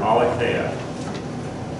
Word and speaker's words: aletheia: of the English spelling, but it's the word aletheia.